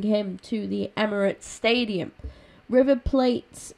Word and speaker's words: River Plate: River Plate, I think it's pronounced Plate, but they offered us, they offered Jenkinson the chance to go there on loan, and I did accept that.